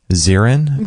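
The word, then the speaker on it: Xin: to look him up it's called x i n zerin is how he pronounces his name and if people want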